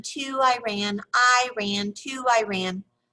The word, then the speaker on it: Iran: often kids tried to be funny by chanting i ran to iran i ran to iran the correct pronunciation i always inform them is iran ran is a sentence i told them as